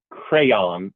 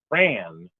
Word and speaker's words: crayon: I think crayon, which I think is correct, was number Crayon. one, but crayon, the one Crayon. syllable crayon, was very, very close. My 5-year-old says it like that, so I guess he's in good company.